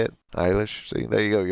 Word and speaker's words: Eilish: Eilish.